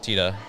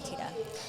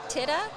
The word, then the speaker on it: tita: out the pronunciation because they wanted to say it like it's spelled t-i-t-a so they kept giving it like a short i sound the if titta and that's not that's not it at all even